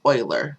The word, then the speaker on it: Euler: doesn't look like it but that word is pronounced Euler it's the name of a mathematician and when